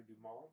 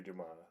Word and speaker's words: Dumas: Well, his S is silent.